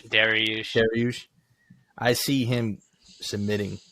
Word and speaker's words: Dariush: You know, they're looking more forward to the Dariush and Oliveira fight, Oliveira.